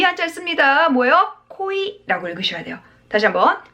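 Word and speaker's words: 濃い: 코이라고 읽으셔야 돼요. 다시 한번, 코이라고 읽습니다.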